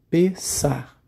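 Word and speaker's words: פסח: a sua origem verbal palavra Páscoa em hebraico se pronuncia pensar e se escreve com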